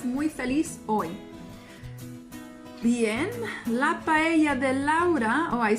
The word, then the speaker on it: paella: La paella de Laura. Paella, that's one of the hardest words to pronounce by native English speakers, especially native English speakers.